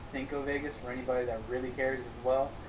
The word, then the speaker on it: 5 Vegas: Now, the uh, Vegas Miami here, it's actually correctly pronounced Cinco Vegas for anybody that really cares as well.